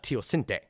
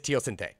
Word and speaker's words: teosinte: wild grass called uh teocente and I remember this because I actually looked up for the I did look up pronunciation for this one it is teosinte so I did I